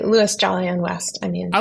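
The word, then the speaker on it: Louis Jolyon West: about this individual this uh I think I'm pronouncing his name correctly Louie jolly and West oh yes so I say Louis jolly and West I mean I like calling him Louie Lou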